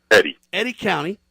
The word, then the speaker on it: Eddy County: Sheriff it's from how do you say it Eddie County Edie County yes Eddie Eddie County New Mexico Scott London welcome to Liberty Roundtable